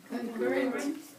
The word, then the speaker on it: concurrent: say concurrent concurrent concurrent so the stress the strong syllable is on this part C concurrent and it has two RS notice the two RS in the spell um and stress on this Sy concurrent it means existing or